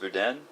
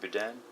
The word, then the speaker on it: boudin: from down in Louisiana called, I think it's pronounced boudin, or boudin, that also has rice in it.